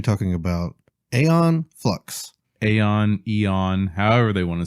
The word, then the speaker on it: Aeon: of time you would it is EO n but this is a on this yeah this is literally spelled with the AE blend thing like Aether the a is silent yeah I don't know I think AE is hasn't make e sound on is her last